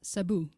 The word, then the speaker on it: Cebu: Cebu? Did I say that right? No, it's Sabu.